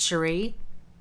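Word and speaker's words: Scerri: is by paul cherie it's spelled s-c-e-r-r-i but it's pronounced sheree my aunt is an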